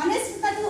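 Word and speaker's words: honest: कोणता आहे आपला ऑनेस्ट म्हणजे एच ची स्पेलिंग त्याच्यामध्ये आहे एच लेटर आहे मग याला आपण ऑनेस्ट म्हणायला पाहिजे होतं होतं मग ऑनेस्टचा उल्लेख तसा होत नाहीये म्हणून त्याला याचा उच्चार होतो ऑनेस्ट आणि ऑनेस्ट चा अर्थ काय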